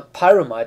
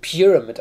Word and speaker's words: pyramid: wieder treffen der Pam warum sage ich eigentlich immer pyamide das ist total falsch ausgesprochen auf englisch wird das eigentlich Pyramid ausgesprochen aber was scheiß drauf